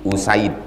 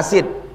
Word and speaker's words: Usaid: 343 waan abi usaid cara membacanya bidammil hamzah u wa fathisin Sa jangan baca asid. Asid itu asam. Asam asid usaid.